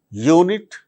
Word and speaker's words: unit: But in the case of the words like unit, unity, universe, university, they produce consonant sound.